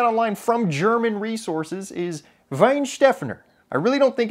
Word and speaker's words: Weihenstephaner: I'm like, I'll have the Weihenstephaner, and then she's like, the Weihenstephaner, okay.